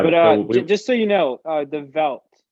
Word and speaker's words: The Veldt: So we're going to be listening to the Veldt by Deadmau5.